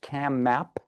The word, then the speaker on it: CAMAP: maid assessors and providers CAMAP is the way the acronym is pronounced and the people who